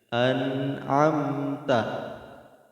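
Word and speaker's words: أنعمت: Di sini ada nun mati bertemu a, berarti dia jatuh kepada idhar. Maka kita bacanya jelas dia. An'amta, an'amta.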